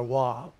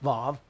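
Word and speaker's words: וו: you did brought out VAV or wav you find it w a w but it's pronounced VAV in the Hebrew very good that's used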